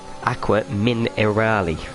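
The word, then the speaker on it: Acque Minerali: Whoa, I've butchered that one. Pretend I said that one right. Aqua Minerale.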